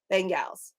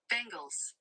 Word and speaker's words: Bengals: That's like bangles. So it's not Bengals, it's bangles. It sounds like the bangles that I wear. Bengals.